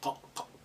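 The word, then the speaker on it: ق: next in the family slightly deeper than the f so you have two dots on top of it and that's a cough Cough like in the coffee coming back from the C when you say it like a mouth slightly open.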